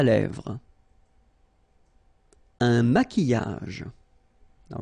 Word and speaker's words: maquillage: Un maquillage. Okay, so here, same rule. Q-U, but then U is not pronounced, so qui, and then y. Maquillage.